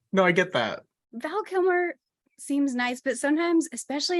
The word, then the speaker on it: Kilmer: Kilmer.